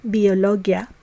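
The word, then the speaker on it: ביולוגיה: we say calligraphia now the suffix ology in English which refers to a branch of learning is pronounced as logia in Hebrew so to say biology we say Biologia and to say technology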